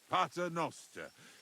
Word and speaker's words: Pater Noster: Pater noster, qui is in careless, sanctificata or no man's tomb.